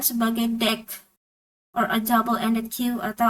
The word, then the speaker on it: deque: Nah, jadi ini diucapkan sebagai DEQ or a double-ended queue atau antrian dua ujung